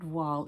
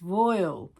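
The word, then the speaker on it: voile: a sewing friend, and it's not voil, it's royal. So, it doesn't rhyme with twirl, which is an education for me.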